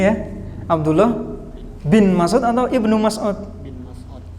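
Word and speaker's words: ابن مسعود: tahu kenapa dibalik bin bin itu kurang tepat ya kalau di Arab bacanya Abdullah Ibnu Mas'ud Ya Abdullah Ibnu Mas'ud masjid Abdullah Ibnu Mas'ud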